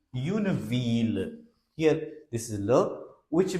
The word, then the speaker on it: ville: But there are certain places where double L is pronounced like the, like V-I-double-L-E. Une ville.